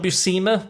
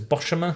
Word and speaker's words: Buscema: John Buscema, but I used to pronounce it as Boshemer for some reason.